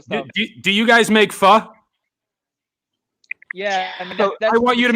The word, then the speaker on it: pho: Do you guys make pho? Yeah, I mean, So I want you to make a T-shirt. The Vietnamese food is called pho, but it's pronounced pho, and you should make shirts that say "down to pho."